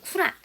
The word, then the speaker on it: 꾸란: 더 알아보죠 원작가 들겠지만 이슬람교 의 경전은 쿠란 우리는 보도 꾸란 이라고도 원래 발음은 그렇대요 안돼 입구라는 알라의 계시를